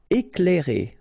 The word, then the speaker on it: éclairer: Éclairer. Okay, C and L together, you will pronounce this cl, cl. Éclairer.